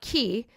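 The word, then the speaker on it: cay: That's pronounced key.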